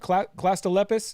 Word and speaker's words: clastolepis: Did I say it right? Clastolepis? Is that the scientific? Clastolepis, yeah. Somalia clastolepis, yeah.